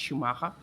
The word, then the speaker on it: Schumacher: That is, yes, that's how it's pronounced, Schumacher.